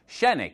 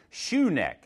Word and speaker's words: Shenick: And by the way, you might have noticed that Rocky is from Shenick, which is not pronounced Shoe Neck.